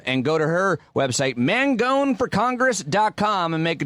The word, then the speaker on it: Mangone: that last name pronounced it's pronounced man gone man just like you well how has your